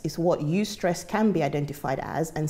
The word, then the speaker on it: eustress: good stress, is called eustress. So that's E-U stress, eustress okay. is pronounced.